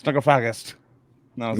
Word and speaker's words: Necrophagist: Well, I mean, I was pretty surprised to find out that I was pronouncing necrophagist wrong.